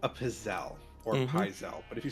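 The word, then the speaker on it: pizzelle: It's from the south and it is called a pazelle or pisel, but if you say pisel, you're wrong.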